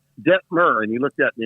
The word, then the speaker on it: Detmer: It's Detmer, okay? Rhymes with fur. Think incense and myrrh. Detmer.